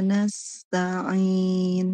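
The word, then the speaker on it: نَسْتَعِينُ: Bukan na'budu tetapi na'budu wa iyyaka nasta'in. Nasta'in bukan nastain nastain. Nah, Ibu bisa bedakan suaranya? Iya, bisa, Ustaz.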